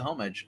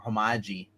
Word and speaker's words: homage: love how it's a homage uh or homi what you call it silent h oh and and it